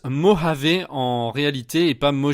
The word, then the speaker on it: Mojave: dernière petite précision ce nouvel os ça se prononce mojave en réalité et pas mot j'avais alors j'ai